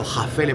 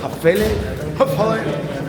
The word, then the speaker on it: Häfele: capaz de resolverlo esele hafele como esa a lleva una diéresis llevaría la pronunciación que nosotros en español sería una a y una e entonces tendríamos que encontrar eh el sonido entre medias entonces encontraríamos ahí un